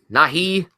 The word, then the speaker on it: Nighy: And, Brian, is that how you pronounce his name? Bill? Nighy.